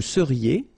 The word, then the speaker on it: seriez: So here when you've got this Z at the end, then you get the sound E.